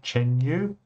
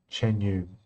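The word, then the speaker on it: Chuan Yu: of the deck is, I think you pronounce it Chen Yu. c h u a n y u Chen Yu Model Ships.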